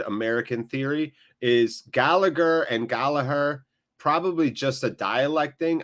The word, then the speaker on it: Gallagher: plays for often sc his last name is gallagher but it's pronounced gala her is that the correct pronunciation last good question before